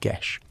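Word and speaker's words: geis: From the moment they are born, or perhaps after a great deed, they are bound by a geese, pronounced gish.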